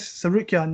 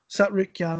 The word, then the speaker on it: Tsarukyan: Tsarukyan, that's it. Yeah, I call him Arman. Arman, yeah. I don't pronounce the T, so Tsarukyan, I think that's how you pronounce it.